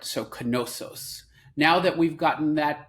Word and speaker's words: Knossos: Is that Knossos, like as in knowledge, or no? It's actually Knossos, as in knish.